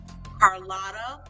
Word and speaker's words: Carlotta: said it right her name properly before sunday carlotta so don't miss this one also friday 6